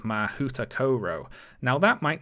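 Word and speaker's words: Mahoutokoro: World for instance the Japanese school is called mahuta Koro now that might not sound right to you H but but that is the pronunciation guide given on the website so this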